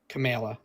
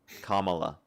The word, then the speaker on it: Kamala: And I'm sick of the Camala Camela. Kamala.